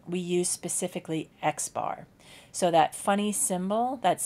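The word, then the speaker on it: x̄: class we will use the X with the bar over it and it's pronounced X bar so anything with a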